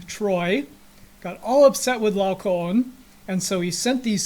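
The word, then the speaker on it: Laocoön: So this little thing, the diaeresis above the O, just simply means you pronounce both O's. So Laocoon, and the story goes, he was a priest in ancient Troy.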